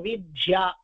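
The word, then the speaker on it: विद्या: சமஸ்கிருதத்தை நன்னா சொல்றதா நினைச்சுண்டு வித்யா அப்படின்னு வந்ததுன்னா வித்யா அப்படின்னு அழுத்தி சொல்லுவா வித்யாலயம் வித்யாலயம் அவாளுக்கு சமஸ்கிருத போறாதுங்கிற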